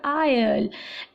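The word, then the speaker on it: isle: और synonyms will be आइलेट, S again साइलेंट हो जाएगा, आगे फिर से एस साइलेंट हो जाएगा, आयल, एटॉल, किसे बोलेंगे?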